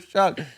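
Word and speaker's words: Shough: But I like Tyler Show. Tyler Show was actually a dog, though. You know what I Shuck, by the way. Is that how you pronounce it? Shuck.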